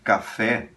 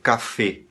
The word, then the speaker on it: café: Se você escrever café e pedir para um espanhol ler isso para você, ele vai dizer café, café, com o E fechado.